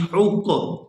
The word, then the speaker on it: حق: حا قاف پیش حق. یہاں آپ نے تلفظ کا بھی خاص خیال کرنا ہے، حا کو حلق سے اچھی طرح سے ادا کریں گے اور آگے قاف کو پورا ادا کیا جائے گا.